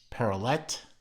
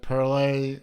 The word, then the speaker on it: Perrelet: from a watchmaker called perrolli I was pronouncing it very briefly parallel but then somebody pointed out to me that no parlez rhymes with of all things Chevrolet so parallel a Chevrolet